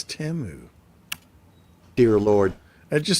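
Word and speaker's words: Temu: It's not Teimu, it's Teu. Dear Lord, it just sounds wrong, doesn't it? Like Yeah, I can't call it Teu.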